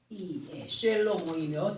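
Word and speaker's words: שלמה: 그러나 영적인 상태 속에서 보게 되면은 아버지 하나님의 지혜를 받은 사람으로 솔로몬의 히브리식 발음은 쇠로모입니다. 쇠로 쇠로모이며 뜻은 평화롭다입니다.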